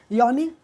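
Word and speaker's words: yawn: सो यहाँ पर right option बनता है आपका एक तरीके से देखो यॉन में मतलब डब्लू साइलेंट है और यहाँ पर कंडेम एन साइलेंट है।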